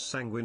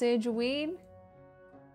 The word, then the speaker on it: sanguine: dear dear case O'Brien says it is sanguine and consanguinity yep sanjuin sanguine wait it's not pulse it's not pronounced San Juan no please say say it's not sanguine it's not pronounced sageween tanguine I feels like